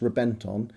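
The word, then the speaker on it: Reventón: A little special fact for you, the Reventon, it's spelt Reventon but it's pronounced Reventon, was actually named after, as many Lamborghinis are, a fighting bull.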